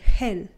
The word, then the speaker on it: gel: El gel. El gel. So GE always makes the G make a H sound.